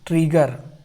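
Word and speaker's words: trigger: उसके बाद डबल जी को क्या पढ़ते हैं, गा। डबल जी को हम लोग गा पढ़ते हैं। और ई साइलेंट है और केवल रा को पढ़ रहे हैं तो आधा रा, तो ट्रिगर, ट्रिगर हो गया।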